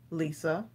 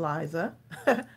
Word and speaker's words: Lisa: Mona Lisa, pronounced Lisa. We kept saying Liza.